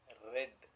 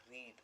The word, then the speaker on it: read: Read is a main verb and the past tense also is spelt the same way, but it is pronounced as past tense as read, not read.